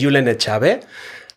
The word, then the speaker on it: Julen Etxabe: wonderful my name is yulena chabe and that's a an important uh probably for people to know how my name is pronounced it's a basque name and I'm an assistant